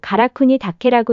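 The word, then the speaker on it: 韓国岳: 한국악은 일본어로 가라쿠니 다케라고 읽는데 이것은 가라산, 즉 가야산이라는 뜻이다.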